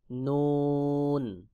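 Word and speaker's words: نون: হবে তারপর রয়েছে নুন জিহ্বার আগা তার বরাবর উপরে তালুর সঙ্গে লাগাইয়া নুন উচ্চারণ হবে যেমন নুন নুন এরপর ওয়াও দুই ঠোঁট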